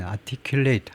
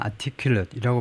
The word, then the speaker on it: articulate: articulate는 이제 동사로 쓰이기도 하고 동사일 때는 발음이 articulate 하고요. 형용사로 쓸 때는 articulate이라고 발음하는데, articulate 동사면요, 그러니까 분명하게 자신의 입장을 밝히는 겁니다.